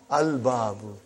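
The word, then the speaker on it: البابُ: Is it moon letter or sun letter? Moon letter. You did pronounce Lam. Al-Babu.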